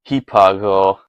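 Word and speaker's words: ὑπάγω: This would have been pronounced hipago with the H there in Erasmian that we all love.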